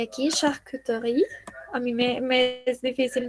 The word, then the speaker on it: charcuterie: Y aquí charcuterie, a mí me es difícil no pronunciarla, pero la dice muy rápido.